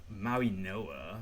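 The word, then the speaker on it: Mauigoa: I think it's pronounced what I've heard a lot. It's Maui Noah.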